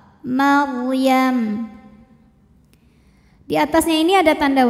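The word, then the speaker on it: مَرْيَم: kecil huwal masihu Ibnu Maryam ro sukun didahului baris fathah dibaca secara tafkhim bacanya tebal Maryam di atasnya ini ada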